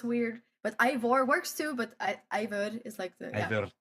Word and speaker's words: Eivør: I mean um you know you touring with and I always say this name wrong is Ivor. I Yes. Ivor. Ivor you know the weird exactly it's the O with the line through that gets everyone like I